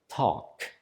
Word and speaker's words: Tag: At the end of the word, when we have a consonant, we actually pronounce it harder. We pronounce it like the hard variation of it. So instead of a G, we say a K.